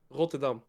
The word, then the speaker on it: Rotterdam: Rotterdam. Rotterdam. I was close. Yeah. Okay. No, because say I'm asking because TwitchCon is in Rotterdam this Oh, year.